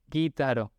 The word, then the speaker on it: gitaro: No gitaro ni gitaro. Guitaro.